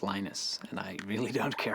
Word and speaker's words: Linus: What's your preferred pronunciation? When I speak Swedish, it's Linus. When I speak Finnish, it's Linus. When I speak English, it's Linus.